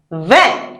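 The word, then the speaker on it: vingt: Yes, 20, because IN sounds what? And the G is not pronounced, and the T is not pronounced either.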